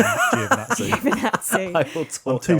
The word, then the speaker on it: Giovinazzi: I heard it is actually It's Giovinazzi.